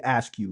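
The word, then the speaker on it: Akew: right my last name is literally ask you but it's spelled a ke e w all right all right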